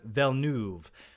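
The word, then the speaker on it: Villeneuve: finale yes in my opinion he did it's pronounced velnuv um actually I'm friends with Dennis villeneve and he told me how to pronounce it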